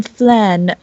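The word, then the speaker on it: Phlan: were in uh fan how do you pronounce it guys flan uh FL is it FL not fan okay we were in flann um a couple uh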